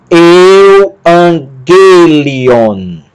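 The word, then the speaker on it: εὐαγγέλιον: E quando nós temos um gama antes de outro, ele assume um som de N. Vou falar sobre isso depois. Tá? Então, eu, an. Gama, Y, G. Lambda, iota, li. Ômicron, ni, on. Euangelion.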